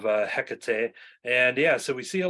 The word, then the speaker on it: Hecate: I go off of the Buffy pronunciation of Hecate, and so we see